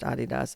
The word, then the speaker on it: Adidas: It is pronounced Adidas.